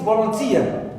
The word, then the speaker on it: volunteer: Last word also, it is volunteer. Tia is the last syllable in this word, and it is stressed.